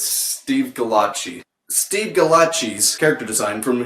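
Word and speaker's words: Gallacci: yeah how the do you pronounce that goddamn name okay it's Steve Kalan Qi Steve galati's character design from his series albedo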